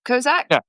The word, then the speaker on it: Kozak: Dmitry Kozak, is that how you say it? Kozak? Yeah.